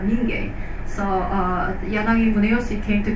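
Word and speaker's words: Mingei: So Yanagi Muneyoshi's Minye, in Korea we say Minye, the art of people. In Japan it is said Minge.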